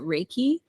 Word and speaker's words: Reiki: I pronounce it Reiki. Reiki. Okay. Though interestingly, the word is of Japanese origin, and they don't particularly pronounce R's the way we do. So they'll say it more like Reiki.